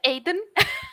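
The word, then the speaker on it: Auðn: Satán, bueno, puntualitzar que Auden es pronuncia Aiden.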